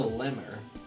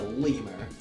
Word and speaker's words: lemur: not a tanuki and that's a Limor that's a lemur not little more that's a lemur let's